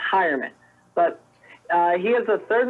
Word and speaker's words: Heuerman: his name is pronounced heuerman and I always look at it I want to say human because that's how it's spelt but for some reason it's pronounced heuerman but he is the